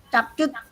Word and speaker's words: CapCut: Saya sering jelaskan ke anak-anak, jangan dibaca capcut karena itu bahasa Inggris bacanya CapCut.